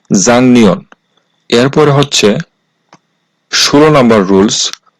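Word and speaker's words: 작년: বাচ্চিমের পরে আছে নিউন এই শব্দটার উচ্চারণ হওয়ার কথা ছিল জাক নিয়ন কিন্তু বাচ্চিমের রুলসে যেহেতু আছে যে গিউক বাচ্চিমের পরে যদি নিউন আসে তাহলে এই গিউকটা বাংলায় অনুষ্কার করতে হবে এইজন্য এই শব্দটার সঠিক উচ্চারণ হবে জাংনিয়ন এরপরে হচ্ছে 16 নাম্বার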